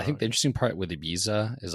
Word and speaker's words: Ibiza: So like I think the interesting part with Ibiza is like it's set pronounced Ebiza, but in Spain, everyone says IA because, you know, the Z's are like th's.